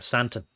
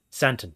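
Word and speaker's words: Sandton: nice area in Johannesburg called s s town or santon santon is probably how you say it you know um so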